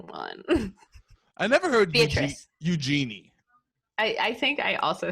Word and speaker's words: Eugenie: It's Eugenie.